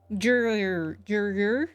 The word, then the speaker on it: Jurier: Jurier. That's how they pronounce it.